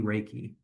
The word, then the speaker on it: Reiki: Another aspect of your business that I want to make sure that we dove into is the concept of a money Reiki. Hopefully, I'm pronouncing that right.